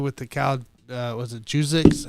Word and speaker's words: Juszczyk: Was it Juzik? How do you say his name? Juzik. Yeah, you said it right the first time. Juzik. Kyle Juzik.